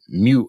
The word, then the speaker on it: Mu: circuit python is the mu editor i pronounce it mu sort of like the greek letter yeah mu i don't